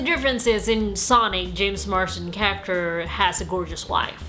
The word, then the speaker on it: Marsden: there's just so many similarities both has James Markson as a sidekick Marsten James Marsden I'm sorry I said his name wrong James Marsden both has driving scene with